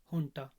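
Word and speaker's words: junta: माना जाएगा ओलिगार्की और हंटा जीयू एनटी स्पेलिंग है लेकिन प्रत्य इस को हंटा है अब जो यह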